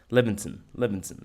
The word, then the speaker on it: Levinson: Levinson, that's how you pronounce it.